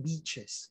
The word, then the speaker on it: beaches: When you don't smile, the long E sound will sound like a short I and you will sound like you're saying something bad.